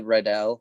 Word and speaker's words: Riddell: I gotta give it to Riddell, or am I pronouncing that right? Riddell.